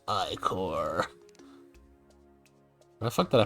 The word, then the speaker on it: ichor: Actually, it's pronounced ichor. Where the fuck did I put my ichor? I will point out that yes, it is, as I understand it, supposed to be pronounced ichor, but also this game has enemies called ichor